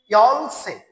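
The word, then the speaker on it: 열쇠: আচ্ছা, তারপর আছে ইয়লসে, ইয়লসই লেখা আছে, রাইট উচ্চারণ হবে ইয়লসে, ইয়লসে, ইয়লসে, ইয়লসে, ইয়লসে চাবি, ইয়লসে চাবি, ইয়লসে চাবি।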